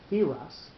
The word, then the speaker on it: Tiras: It may be substantiated that phonetically Tiras may be pronounced Thiras, which resembles Persia, just as Athanasi is like Aphanaxi, or Athenae, and is like Athenae.